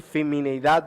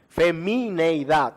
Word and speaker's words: femineidad: clases de masculinidad y feminidad bíblica femineidad bíblica es así como se pronuncia y la clase de